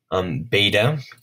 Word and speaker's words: beta: over in this video, beta makes a B sound. Now, later on in Greek, it came to be a V sound, but in 4th century